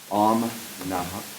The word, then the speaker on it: Om Namaha: Well, the name is Mahana, but the business name, I think the way you would say it properly would be Om Namaha.